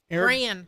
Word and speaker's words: Gran: Eric Gran. Am I pronouncing that right? Gran. Gran? Sorry. It's like grand without the D, he said.